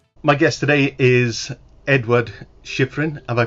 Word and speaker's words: Shyfrin: My guest today is Edward Shiffrin. Have I pronounced that correctly, Edward?